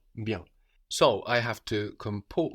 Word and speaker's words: bien: We know too much about French to pronounce E-N, N. Bien. Bien. Ah, okay. No, we have the N on the end. We're swallowing that into the vowel before, into that E, so it sounds like bien, bien.